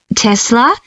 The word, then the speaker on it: Tesla: Tesla. That's spelled T E S L A.